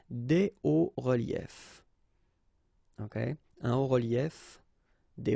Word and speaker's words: hauts reliefs: it's quite simple because S and S, but then we don't pronounce them here. Des hauts reliefs. Okay? Un haut relief, des hauts reliefs.